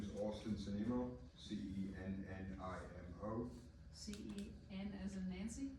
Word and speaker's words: Cennimo: My name is Austin Senimo, Cennimo. C-E-N as in Nancy? N like November, yes, 2 N's. I am like Mike. Okay. And Mr. Semino, am I pronouncing it right?